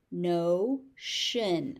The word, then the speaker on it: notion: Notion. Again, the TI here is a sh sound, notion.